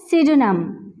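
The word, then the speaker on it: pseudonym: Next word हमारे पास है सिडोनम, सिडोनम, यहाँ भी P हमारे पास साइलेंट है।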